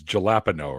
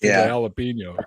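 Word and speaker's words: jalapeño: man yeah there's there's there's a few words like that where you read them I mean just watch trailer park boys and where it's galapo right galapo jalapeno jalapeno gotta love the galapo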